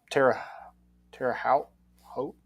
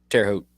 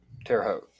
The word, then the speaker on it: Terre Haute: had Tennessee going to the uh Terre Haute Tara how hope how do I say that how do you say that Indiana State Terre Haute Terre Haute okay we'll roll with it um Regional with